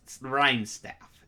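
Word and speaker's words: Rimestaff: as well as kaldrick the rhyme shots rhyme staff yeah that's the pronunciation very nice card especially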